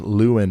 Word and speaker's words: Laurel: up towards Taylorville and Laurel once again it's pronounced Luen my bad uh let's check